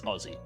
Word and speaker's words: Aussie: spell and pronounce it but it's Aussie like Ozzy Osbourne but Aussie uh I